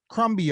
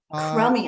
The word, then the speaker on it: Crumby: So yeah, Crumby Art. Crummy Art. It's a play on words. The B is silent.